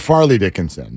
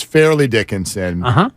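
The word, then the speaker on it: Fairleigh Dickinson: Dickinson even though that that is how it's pronounced yeah I grew up calling it Farley Dickinson sure um but it's fairly Dickinson but that always makes it sound like you're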